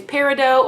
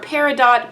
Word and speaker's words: peridot: So as you can see from my thumbnail, the first stone that I'm going to be doing is Peridot or Peridot. Both pronunciations are correct.